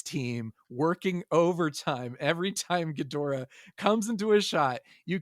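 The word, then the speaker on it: Ghidorah: monster what's up Gora gadora that's a that's a hard o there gadora gadora gadora that's how you say it gadora I always said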